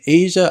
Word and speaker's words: Aja: guys told me that this one is pronounced Asia now I reacted to